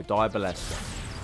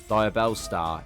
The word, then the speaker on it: Diabellstar: Diabolesta. Like, genuinely, I ain't gonna lie, yeah. I know I said it wrong. Diabellstar is...